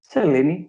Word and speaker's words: Selini: Selini, yeah. That's how you can say it, yeah. Okay. And awesome. And basically Selini is the name of our moon.